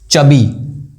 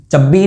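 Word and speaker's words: chubby: चबी, चब्बी नहीं चबी, दो बार ब नहीं आ रहा।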